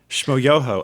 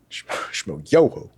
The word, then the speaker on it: Shmo Yoho: Shmo Yoho, accent on the yo. Shmo Yoho.